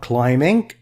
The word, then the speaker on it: climbing: Different packages including extreme sports like rock climbing, B is silent, paragliding, paintball and skydiving.